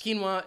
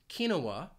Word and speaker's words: quinoa: Bolivia or Chile but the word does have two syllables the stress is on that first syllable quinoa now you might hear it pronounced with three syllables kinoa in which case the stress would be on that second syllable kinoa and that final syllable